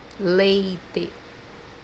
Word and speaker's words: leite: Always when it comes in the beginning of the word, we pronounce as L in English. The example that we have here is the word milk, which means in Portuguese leite, leite, The second pronunciation for